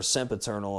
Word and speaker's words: Sempiternal: Then they changed to metalcore for a couple albums, put out the Sempiternal album, or Sempiternal is how it's pronounced.